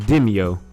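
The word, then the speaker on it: Demeo: it wrong with my nose but it's it's pronounced dimio and it's kind of like a weird tabletop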